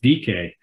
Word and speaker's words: Dike: What I thought was kind of cool is that this was a Greek goddess, and it's pronounced Dike.